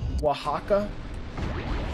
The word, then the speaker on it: Oaxaca: Oaxaca?